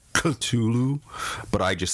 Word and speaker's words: Cthulhu: S.T. Joshi says it's more like a cough, and you hold your tongue at the top roof of your mouth and like in a coughing sound like Cthulhu, but I just say Cthulhu, so just for namesake.